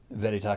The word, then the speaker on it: Veritas: Frederick Land Company to Veritas Commercial Real Estate, which quickly became an acronym because nobody can pronounce Veritas. It's Verita.